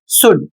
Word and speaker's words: should: अगला शब्द है एस एच ओ यू एल डी और इसे पढ़ा जाएगा शुड चाहिए। अब यहां पर देखिए इन सभी शब्दों में एल साइलेंट है।